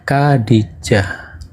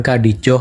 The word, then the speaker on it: Khadijah: Kalau Khadijah tadi kan persis ya, Kadijah bukan Kadijoh atau Kadijih.